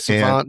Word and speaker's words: SXVXNT: hip-hop and rap artist, Phonte, which is spelled much different than how it sounds. So yeah. So how you doing, Phonte?